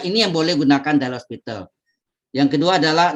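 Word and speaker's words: L'Hôpital: Pakai topi ya, hostnya. Host, bacanya hospital. Nggak pakai S. Kalau S, hospital itu rumah sakit nanti.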